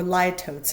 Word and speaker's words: litotes: I know, litotes, or litotes, is an alternate pronunciation.